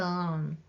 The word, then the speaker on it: を: direct object particle o this hiana character o is the same pronunciation as the vowel o but this hiragana character o is only used as a particle the particle o marks